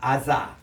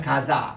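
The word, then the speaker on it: עזה: 그래서 유대인들은 이렇게 이 아사라고 이렇게 적어놓고 우리 따라합시다. 아사. 아사. 유대인들이 이렇게 읽어요. 그런데 팔레스타인 사람들은 이 아랍 사람 요거를 가사라고 읽어요. 따라합시다. 가사.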